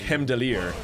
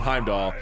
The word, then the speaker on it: Heimdallr: little more correct manner just something like hem dalire we've been calling him Heimdall so it can be your old he bow correct sometimes you just want to pronounce it the easy way so people know who